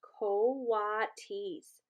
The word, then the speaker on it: coatis: They are coatis, Miss Brisbane said, reading from the letter, pronounced coatis.